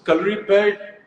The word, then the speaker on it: Kalaripayattu: so, Kalaripayattu, Hrithik, I'm so proud of the fact that you said the name correctly because in India, I Thank don't you.